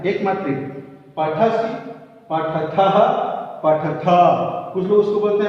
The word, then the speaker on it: पठथ: है, एक मात्रा, पठसि, पठथः, पठथ, कुछ लोग उसको बोलते हैं पठत, पठसी, पठथा, पठत, पठत नहीं है, पठथ है, पठथ, क्योंकि ये थ पूरा है, आधा नहीं है।